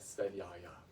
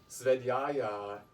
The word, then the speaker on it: svadhyaya: Spelled S-V-A-D-H-Y-A-Y-A. And V is pronounced as W in Sanskrit.